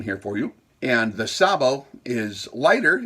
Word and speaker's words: sabot: projectile uh a sabo spelled s-a-b-o-t is pronounced sabo really and it's a